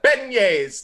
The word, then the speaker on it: beignets: You gotta have the beignets that they have there.